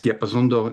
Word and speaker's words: Diapason d'Or: And so also there's a connection with France also in the award, and I can't pronounce it. The award, is it Diapason d'Or that you won? Yes, Diapason d'Or is the foremost French award.